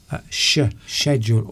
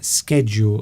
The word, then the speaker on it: schedule: It's the SCH is sh, a sh sound. Yes. So, yeah, like SH, if you'd left out the C, it would just be schedule or schedule.